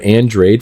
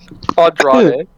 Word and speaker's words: Andrade: That's a reference to Andrade from AEW. Questioning MJF on how he knows something. How do you say that? Andrade.